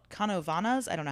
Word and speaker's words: Canóvanas: Canóvanas, actually. How How do you spell it? Uh a c a n o with a the thing, v a n a s. Yeah, Canóvanas.